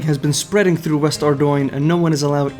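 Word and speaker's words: Ardougne: So according to Google, it's pronounced Ardoin.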